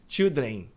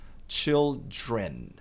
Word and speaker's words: children: E tem que pronunciar o N no final. Muita gente diz children, como se fosse estavam, né? Aqui esse M nosso é children. Para pronunciar o N corretamente, encosta a língua lá no céu da boca e pressiona. Children.